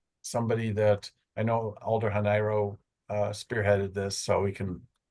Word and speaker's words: Hanairo: And by the way, it's Alder Hanairo. It's not, I've heard some different pronunciations tonight. It rhymes with Cairo, as she likes to put it. So Hanairo.